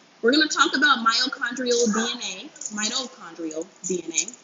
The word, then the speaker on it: mitochondrial: We're going to talk about mitochondrial DNA. Mitochondrial DNA. I was told I was saying it wrong. I was skipping the T.